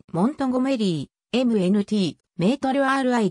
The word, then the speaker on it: Montgomery: オマハ出身の俳優モンゴメリーの発音はモントゴメリー mnt メートル ri で